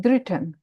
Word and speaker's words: dritten: यूली द्रिटन, द्राई नहीं द्रिटन।